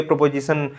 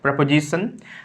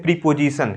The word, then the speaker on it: preposition: सो एज you know that प्रपोजिशन actually इसका जो प्रोनाउंसिएशन होता है सब बोलते हैं प्रीपोजिशन। क्या बोलते हैं? प्रीपोजिशन। इट इज़ नॉट प्रीपोजिशन, इट इज़ प्रेपोजिशन।